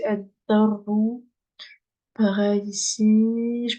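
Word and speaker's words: الدر: Pareil, ici, il y a une shadda, donc je prononce pas le lem. Donc, c'est ad-darru.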